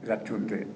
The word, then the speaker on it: Radandt: Ratunde.